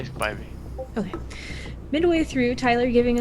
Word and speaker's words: Spivey: How do I pronounce it? I say Spivey.